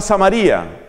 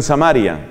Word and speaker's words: Samaria: hay una región que se llama samaría otros pronuncian samaria entiendo que ambas pronunciaciones son posibles bueno en esa región